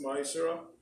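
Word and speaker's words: מעשר: It means 10th in Hebrew and is pronounced Ma'ashera, 10% of every penny of any increase.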